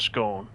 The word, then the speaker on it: scone: You're a scone guy, are you? Like stone and scone.